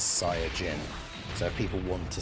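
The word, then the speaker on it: サイヤ人: There's no uh I get the point that they were making is that SSJ comes from the fact that in Japanese it's Sia Jin.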